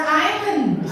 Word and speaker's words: island: Island or island?